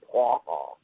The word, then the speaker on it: Praha: He says the correct pronunciation is Praha. So like pra-ah, like P-R-A-A-H, like hyphen A-H?